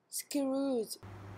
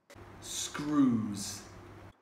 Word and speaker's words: Scrooge: We can hear here that the Korean speaker is having trouble pronouncing the J sound, and it's coming out as Z. So both words sound almost identical as screws from the Korean speaker.